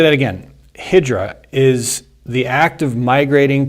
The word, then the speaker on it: Hijrah: It's Hijrah. I believe it's pronounced Hijra, which is it's an Arabic word that describes, in the year 622, the Islamic prophet Muhammad set out on the first Hijra.